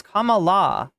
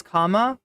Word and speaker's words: Kamala: And I think everyone, I'm starting to mispronounce her name. Are they getting me? It's Kamala. It's Kamala. It's very easy.